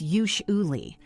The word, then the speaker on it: usually: For ye, usually. It's usually. That often sounds like a sh sound, and the u is like oo. Usually. Don't rush it.